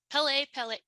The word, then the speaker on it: Pele: Is the pronunciation Pele? Yeah, Pele. Yes, kind of like the soccer player.